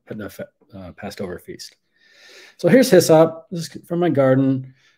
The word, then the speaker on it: hyssop: But anyway, hyssop, sometimes pronounced aesop, and that comes from